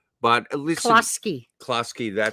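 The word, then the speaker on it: Kluski: I'm going to get that name wrong. But listen. Klasky, that's right.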